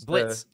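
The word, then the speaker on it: Blitzø: the go guy B Blitz Blitz yeah Blitz the character yeah Blitz there's the oh is silent so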